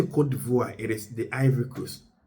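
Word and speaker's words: Côte d'Ivoire: Ghanaians prefer calling them ivory but alert they prefer to be called. That's why um I tried to um pronounce it Kivvoir.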